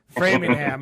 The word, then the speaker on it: Framingham: so much uh how do you say it framingham brainingham yeah framingham all right uh massachusetts go check it out